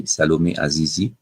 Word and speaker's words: Salomé Azizi: I like to pronounce it like this, French way, Salomé Azizi.